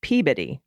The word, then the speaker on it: Peabody: the one everyone gets wrong is Peabody it's Peabody okay sometimes I think people just like grab and just do it just pronounce it weird just so it'll you know